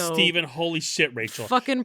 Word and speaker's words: Stephen: It's a PH in the middle, not That's a V. Steven. It's Steven.